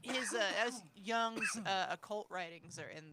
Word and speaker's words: Jung: it's pronounced junk or it looks like jung but it's pronounced young right but then i